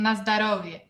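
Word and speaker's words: na zdorovie: It's na zdravie. Na zdravie. It's similar to Russian na zdarovie.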